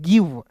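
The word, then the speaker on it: give: गिव हो गया और मैंने बोला अंतिम में इ आता है तो उसका उच्चारण नहीं करते हैं ठीक है और एस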